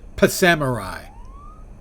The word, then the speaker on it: Psamurai: scheduled so you're Samurai I pronounce it P Samurai uhhuh I I hope